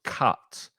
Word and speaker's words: cut: open your mouth more it's the same sound as up or cup so cut put and cut the